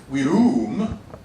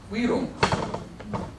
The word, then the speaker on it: virum: What I see is the fact that we don't say virum, we say virum.